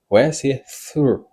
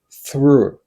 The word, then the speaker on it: through: a lot of people through this is the sound of this word pronounce this word like me through ok c'est comme ça